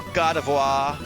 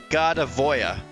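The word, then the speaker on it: Gardevoir: We now have our Gardavoir or um I think it's French's pronunciation. So, I'm going to call it Gardavoya.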